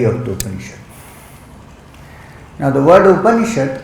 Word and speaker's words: upanishad: This is the study of the now the word upanishad comes from three syllables. Up a knee and sha means close.